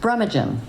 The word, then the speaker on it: Brumaghim: So Kota is comprised of Laurie Donohue, Paul Belanger, and Suzi Brumaghim.